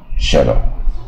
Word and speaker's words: shadow: 一个音啊，shadow 啊，那 w 你也可以说 w 不发音啊，你也可